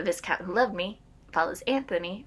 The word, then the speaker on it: Anthony: So then The Viscount Who Loved Me follows Anthony, or Antony, as I guess the British say.